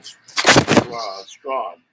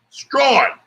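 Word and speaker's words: Strachan: So we'll be talking once again with Colts rookie wide receiver Michael Strawn. It's like Strahan and In English, the Bahamas way of saying it, the Bahamian way, is strong. That's how you say it, all right?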